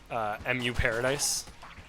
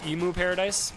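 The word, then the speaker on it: EmuParadise: think so from from mu paradise I would say emu paradise because that's how it's spelled but it's for like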